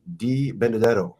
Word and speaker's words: Di Benedetto: It is Di Benedetto.